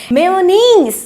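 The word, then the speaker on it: mayonnaise: मैं आपको बताती हूँ इसका सही प्रोनाउंसिएशन क्या है, मेयोनीज। तो इसका प्रोनाउंसिएशन है मेयोनीज। आप लोगों को इसका भी ध्यान रखना है। इसको आप लोग ये नहीं बोलेंगे मेयोनीज या मेयोनेज, ये गलत है।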